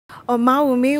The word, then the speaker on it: Omawumi: Oh mommy welcome to the Sun yay thank you you got my pronunciation right hey thank you thank you so